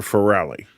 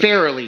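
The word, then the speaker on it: Farrelly: you really want to blow Peter faly it's fairly you keep you sound like a damn fool when you say it wrong I don't sound like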